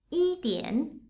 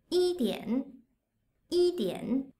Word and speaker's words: 一点: 一点一点 When it is read as 一点 in the fourth tone, it means a little, a bit.